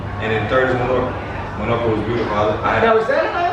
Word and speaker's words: Menorca: Is that M-A-L-L-O-R-C? M-E. So it's not Mallorca. It's a different island.